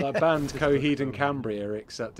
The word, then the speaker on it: Coheed: And apparently you pronounce it Coheed. So yeah, all right. A nightly basis gets lots of kids ringing him up going, Cockhead! Yeah. That was just Coheed.